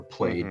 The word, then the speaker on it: Plaid: people on the tesla plaid or played depending on how you pronounce it say like you just